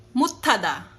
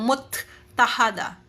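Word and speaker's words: 못하다: magiging mutada kasi po si si tiyot po na ito kung ano po ang pagkabasa po kasi nito is parang may h sound kaya hindi na po parang magiging silent dito hindi na po yung muthada hindi po magiging muthada okay gets po ba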